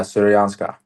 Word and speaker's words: Syrianska: Yeah, Syrianska. Yeah. Syrianska. So I have pronounced something well for once.